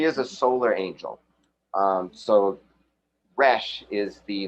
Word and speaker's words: Resh: I'm not very good at doing that sound, but if you have an R sound, then that is the pronunciation, and it refers to the sun, which is more on a physical level.